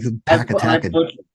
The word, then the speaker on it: Pakatakan: Pakatakan. Thank you. I always say it like Pakatakan. I butchered that for years. You know who told me how to pronounce it correctly? It was Dr. Kudish. It's like it's pronounced Pakatakan. I'm like, okay.